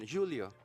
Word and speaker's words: Júlio: I mean, I just heard the pronunciation, Julio.